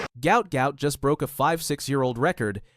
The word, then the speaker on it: Gout Gout: His family name was originally transliterated as Gua or Guat, but now Gout Gout, pronounced to rhyme with pout, is the name the world knows, and it's becoming one that track and field will never forget.